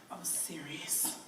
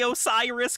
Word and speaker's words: Osiris: That would be Osirius. Osiris. She said it wrong. The demon can't even say Osiris correctly. She said Osirius.